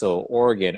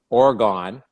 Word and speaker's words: Oregon: the time, Oregon or Oregon. That's how I pronounce Oregon because that's the way it's spelt. So I said that when I was in California, and my teammates laughed Oregon, it's actually Oregon.